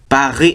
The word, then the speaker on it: Paris: 그래서 프랑스의 수도가 어디죠? 영어로 쓰면 Paris라고 써놓죠. 근데 Paris라고 안 읽고 프랑스는 Paris라고 하는데 Paris, R, Paris, R, Paris. 이게 굉장히 힘들다는 거예요.